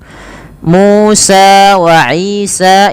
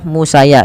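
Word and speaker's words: مُوسَىٰ وَعِيسَىٰ: Musa wa Isa ini tidak dibaca Musaya gitu ya. Ini bukan harokat untuk ya, tapi dia menandakan panjang untuk sa dan sa yang pada lafal Isa.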